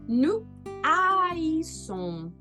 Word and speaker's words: haïssons: Je hais, tu hais, il, elle, on est, nous haïssons. Olha como eu separo. Nous haïssons. Aqui eu não posso juntar porque esse H é aspirado.